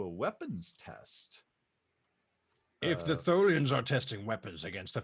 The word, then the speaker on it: Tholian: Yes, I would also like to share with him the what we discovered with it being, how do you pronounce those people? Tholian.